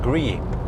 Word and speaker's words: Gree: s my bad gree it's called gree almost like grease but just Gree yeah misspell it not